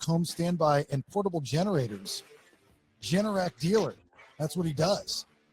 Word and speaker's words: Generac: Generac, right? Generac.